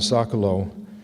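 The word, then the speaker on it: Socolow: Uh Pala and Sakalo, that's pronounced right.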